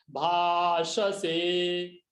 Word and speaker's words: भाषसे: भाषसे, श से दंत्य श, तालव्य श और स दंत्य स, भाषसे।